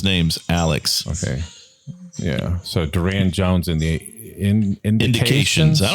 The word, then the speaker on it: Durand: It's spelled DURAND, and if you just type that in, it's Duran Jones and the Indications, and I think probably